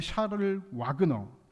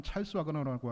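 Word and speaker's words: Charles Wagner: 프랑스 개혁계의 샤를 와그너, 라고 하는 목사님이 계십니다. 뭐 영어 발음으로 하면 찰스 와그너라고 하죠.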